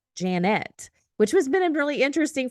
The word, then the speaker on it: Janette: today to my lovely guest Janet so not Jeanette not uh Janet but it's Janet which has been really interesting for me because